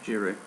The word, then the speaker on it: Giroud: Giroud.